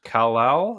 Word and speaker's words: Kal-El: One of them, I think, one of his kids is called Kal-El.